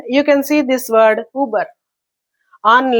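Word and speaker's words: Über: It shows, because of these two marks only, it is pronounced as Uber.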